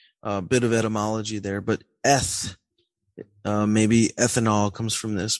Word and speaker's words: αιθ: Now that is not pronounced eith, but eth.